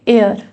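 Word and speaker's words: heir: ये H silent रहता है। इसका रहता है एयर।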